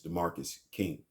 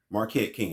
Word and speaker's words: Marquette King: John Gruden gets to the Raiders and he summarily dismisses DeMarcus King.